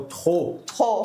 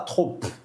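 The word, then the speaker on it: trop: Tem outra palavrinha que a gente anotou também que é o tr, que tem um P no final. Mas a gente não pronuncia o P. A gente não fala TR, a gente fala TR.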